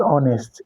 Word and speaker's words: honest: The answer is an there, because and the same idea with that explanation I made with that honest. H there is also silent.